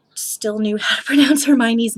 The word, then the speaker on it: Hermione: to say it so everyone else was kind of like her me own and I was too shy to speak up and be like guys I think it's Hermione um but I remember